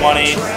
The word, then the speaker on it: Munny: And how do you pronounce it? Like money? Like yeah, M-U-N-Y, money.